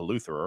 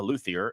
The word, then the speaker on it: luthier: you wanted to be a Luther er luthier a luthier and a Lutheran who's here and luthier so yeah Kenny pronounced it right and most people that